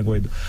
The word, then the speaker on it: Guaidó: Por mais que tenha o acento, mas a pronúncia correta é essa, né, Guaidó?